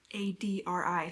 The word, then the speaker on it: Adri: Based on the audiobook, it's spelled A-D-R-I, so I was saying Adri in my head.